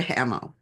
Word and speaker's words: Hammel: I'm going to pronounce her name the American way, Andrea Hamill.